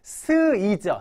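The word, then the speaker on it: 水: 자 물 숫자네요 자 음으로 읽을 때 우리 수요일 할 때 어떻게 읽죠 수요일 그죠 스 이죠 스이 스 이예요 오비 할 때 스 그건 음으로 읽는 거고요 요건 훈으로 읽어 주셔야 돼요 자 물을 뭐라고해요 그렇죠 즈죠 미즈 그래서 4번이 정답입니다 다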